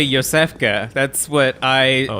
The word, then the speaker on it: Iosefka: and Beast Bloods that's another one of my like least favorite youtuber pronunciations is IO Seska I remember yeah it's it's clearly Yosef qey that's what I oh